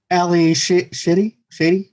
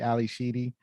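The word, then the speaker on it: Ally Sheedy: Ali Shady, as Stephanie Spick. She also played in the Breakfast Club and War Games and High Art. Yeah, I think you pronounce her name Sheedy, Ali Sheedy.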